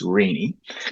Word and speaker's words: Renee: Renee Murray, and I've said her name correctly because it's spelt Renee, but it's actually not Renee. It's Renee.